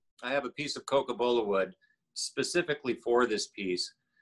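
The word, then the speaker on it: cocobolo: excellent thank you you know tom you mentioned coca-bola wood did i pronounce that correctly yes do you have people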